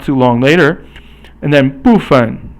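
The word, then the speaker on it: 部分: And then 部分. Now 部 is fourth tone and 分 is 轻声.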